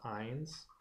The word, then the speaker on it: yne: Their suffix is YNE for alkyne, so their suffix is pronounced ines.